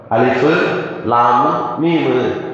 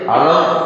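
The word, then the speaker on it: الم: அதை எப்படி படிப்பாங்கன்னா அலிஃபு லாமு மீமு தாலிக்கல் கித்தாப் படிப்பாங்க. நமக்கு ஒரு சந்தேகம் வரலாம், என்னடா இது குர்ஆன்ல எல்லா இடத்துலையும் உள்ளதை அலம் என்று வாசிக்கிறாங்க.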